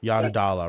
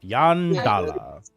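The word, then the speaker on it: Yondalla: Yanadala. Write that down. How do you spell it?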